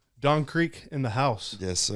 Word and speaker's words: Dxn Creq: Don Creq in the house. Yes, sir. Did I pronounce that right?